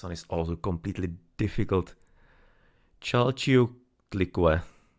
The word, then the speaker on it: Chalchiuhtlicue: Chalchiuhtlicue. Chalchiuhtlicue. Chalchiuhtlicue. Somewhat. I'm not the pronouncing the H in there. It's kind of like a silent one, but nonetheless Chalchiuhtli Chalchiuhtli Chalchiuhtlicue.